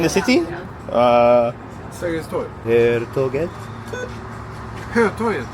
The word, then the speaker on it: Hötorget: Hello, are you going to Hörtåget? Hörtåget? Pendeltåget? Hörtåget? Hörtåget? In the city? Sergels torg. Hörtåget? Hötorget. Oh yes, Hötorget. Yes. Hörtåget. My pronunciation was wrong.